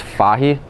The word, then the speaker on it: Fahey: was actually spell fhy and pronounced foggy and a lot of